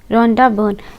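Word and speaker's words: Rhonda Byrne: उसका क्या नाम है, रोंडा बर्न। गाइस इसकी प्रोनाउंसिएशन कैसे है, रॉन, ठीक है, डा बर्न, ठीक है।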